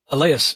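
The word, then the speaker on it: Allais: You may also want to just Google the Alas effect. I think that's how you say it. A L L A I S, which describes how, oddly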